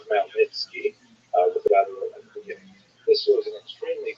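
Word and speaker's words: Chmielnicki: This is referring to Ukrainian leader and it's sometimes spelled with woman characters making it look something like it's actually pronounced malnitki with this was an extremely consequential uprising in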